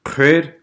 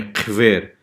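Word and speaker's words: хъвер: В данном случае слово читается как Кхэр, а не Квер, потому что в лезгинском языке есть такой процесс, называется процесс лабиализации.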